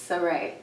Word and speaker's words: Srae: So it's Srae. Srae. Okay, I think the girls are putting an H in there.